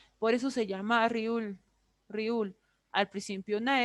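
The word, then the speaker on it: 리을: Riul es la letra, para nosotros, es la letra R, ¿ya? Para ellos hace una semejanza o sustituye estos sonidos, la R y la L, ¿ya? Al principio, cuando está la riul, va a ser una R. Cuando esté al medio, va a ser una L. Y cuando esté al final, va a ser una R, en la mayoría de los casos.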